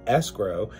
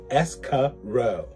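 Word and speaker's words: escrow: sees throughout the episode frequently pronouncing escro as escaro now this color orange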